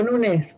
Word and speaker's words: Nunes: ¿Por qué digo Nunes? Porque en inglés no se pronunciaba la ñ, así que era Nunes Carvalho.